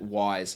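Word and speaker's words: Wyze: and that is the Fantastic guys over at WISE and that wise is spelled w y z e or for those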